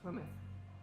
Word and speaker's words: Plymouth: It's Plymouth. Like Plymouth Rock.